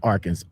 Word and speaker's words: Arkansas: city kansas and then our kansas which is pronounced arkansas anyway anyway i'm i'm off the beaten path